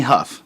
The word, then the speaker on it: Hough: Well, it's definitely Huff.